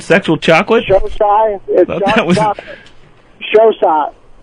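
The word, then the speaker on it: Xocai: Showside. Showside. It's spelled X-O-C-A-I.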